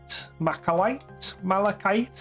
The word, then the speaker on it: malachite: Malachite? How do you pronounce it? Malachite? Malachite? Right. Carrying on. I think this marble goes quite bright. It's a hard K, malachite.